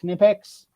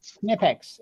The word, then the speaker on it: Knipex: Yeah, Knipex. It's not. It's German. It's not. The K is not silent in German.